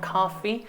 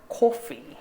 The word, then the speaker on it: coffee: 미국식은 사실 우리가 커피라고는 하지만 미국식은 카피에 좀 더 가깝거든요. 카피. 그래서 미국식은 카피라고 하는데 영국식으로는 오로 바뀌어서 coffee.